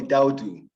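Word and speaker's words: Daoudu: as you know, but my friends call me Daudu.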